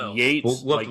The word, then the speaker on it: Yeats: Yates, We'll have to like look. Yates. Is it like Yates? Yeats is Yates, not Yeats, right? Yeah. Not like Keats, Keats.